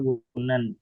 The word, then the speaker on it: Wohnen: Kalau H itu kan ada juga yang di tengah tapi nggak dibaca gitu. Kayak tulisannya Wohnen tapi dibacanya Wunen.